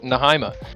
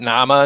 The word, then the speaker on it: Nahyma: Yeah, I'm Nahyma, pronounced Nahyma, not Nama, Nahyma. Nahyma.